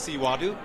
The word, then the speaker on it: Xihuaru: is your name what are you eating there siwadu uh something with a peach something with a